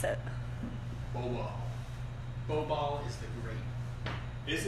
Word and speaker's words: Bobal: How do you pronounce it? Bobal.